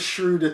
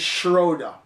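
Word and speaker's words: Schröder: American friends yeah here you love this shrewder ting it is Schroeder now I'm not German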